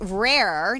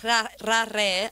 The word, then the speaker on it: RA+RE: So, regarding RA+RE, now there is a French way of saying it, which I cannot roll my R's, so I'm not going to try. So how do you say it? I say RA+RE. I can't say the French version either. Okay. Because I'm Latin, but RA+RE. Okay, so there you go. I'll say rare. Rare.